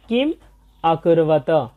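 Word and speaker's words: কিমকুর্বত: মূলত সংস্কৃত ভাষা এই যে পদচ্ছেদগুলো ভাগ করা হয় এগুলো মূলত অর্থের নিমিত্তে ভাগ করা হয়, তাই এর সঠিক উচ্চারণ হবে কিম অকুরবত।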